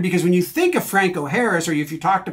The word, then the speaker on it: Franco Harris: just had me rolling how did people in Pittsburgh mess up Franco Harris intentionally uh is the probably the easiest way to say it so Franco Harris um from uh African-American descent and Italian descent um but in Pittsburgh for whatever reason early in his career they said it as Frank o Harris uh kind of turning them Irish um even though the